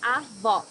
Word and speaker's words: Avó: Here you need to hear the sound of the last O in the syllable. It should be an open O, as we say in Portuguese. Avó.